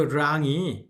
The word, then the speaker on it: 让: 거기에 그 랑이 LANG가 아니고 RANG입니다. 중국어 다른 발음 중에 LANG도 있어요. 그때는 랑, lesson 하는 것처럼 랑, 쌍리을이 되는 거지만 이거는 R은 권설음이에요. rose 하는 것처럼 혀가 말린 상태로 랑, 알아? 랑하고 랑 이거 완전히 다른 겁니다.